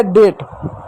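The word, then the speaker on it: date: इ भी आ गया। तो इ साइलेंट हो गया। इ को नहीं पढ़ते हैं। तो डी का ड हो गया। ए का ए की मात्रा हो गया। टी का ट हो गया। हो गया डेट।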